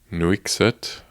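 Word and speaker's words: Nuiqsut: live around the area in a town called nuixit which could be pronounced very incorrectly but it's n-u-i-q-s-u-t and there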